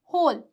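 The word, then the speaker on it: whole: कुछ वर्ड्स में W silent रहता है। कुछ ऐसे वर्ड्स हैं जिसमें सामान्यत ही डब्ल्यू क्या है? साइलेंट है। जैसे कि होल होल।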